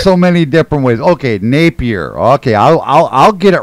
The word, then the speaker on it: Napier: i'd like to say my last name is nappy or not napper well i i hear it i hear it pronounced so many different ways okay napier okay i'll i'll get